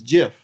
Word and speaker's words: GIF: But when you pronounce it, according to the inventor, it's GIF.